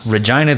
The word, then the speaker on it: Regina: Regina, the town that rhymes with fun.